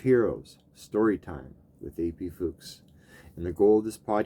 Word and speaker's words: Fuchs: So in German, it's pronounced, well, it depends who you talk to and what, if it's high German or low German, but it's called Fuchs, which we all know what that sounds like. But the English pronunciation typically is Fuchs or Fuchs.